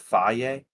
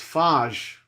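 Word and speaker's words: Fage: Actually, is it Faye? No, it's Faj.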